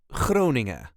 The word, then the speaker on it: Groningen: is called croning croning this is the way us duchies sayon croning there is a very light emphasis on the first part of the wording cing n as you can hear not every letter is pronounced and especially not the last letter and yes there is